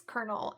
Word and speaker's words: colonel: in my thing and they were like it's colonel and I went oh and after that I was like they I can't I they can't take me.